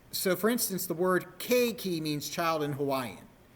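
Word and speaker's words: keiki: for instance the word k key means child in Hawaiian the EI isn't pronounced as separate vowels it's pronounced as a you don't go and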